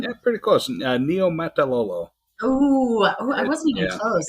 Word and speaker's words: Niumatalolo: Is that how you pronounce his name? Yeah, pretty close. Niumatalolo.